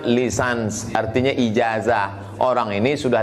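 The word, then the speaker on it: licence: Apa artinya lulusan Kairo LC ljenen itu membacanya lisans artinya ijazah orang ini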